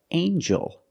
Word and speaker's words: angel: then we have with El angel in this word the G makes a j sound like jump and Juice together with the n a